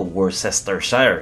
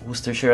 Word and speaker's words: Worcestershire: yung wooster shire sauce ang tawag ko dati dito worcester shire yun nakalagay doun sa lalagyan eh ' ba sabi ng kaibigan ko hindi hoster share ang tamang pronunciation so Sige hoster share